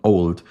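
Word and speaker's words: Auld: Y entonces él inmediatamente, pues, el amo, sí, el esposo de esta mujer, el señor Old, le dijo que no le enseñase más.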